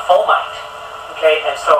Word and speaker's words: fomite: that because it's an F rhymes with termite okay so a fomite okay and so it's